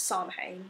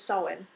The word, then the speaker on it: Samhain: there was Samhain, or where I say it's Samhain, but I know the proper pronunciation is Samhain.